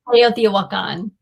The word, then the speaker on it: Teotihuacan: How do you pronounce it properly? Teotihuacan.